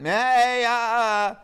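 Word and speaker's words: Maayaa: Maya.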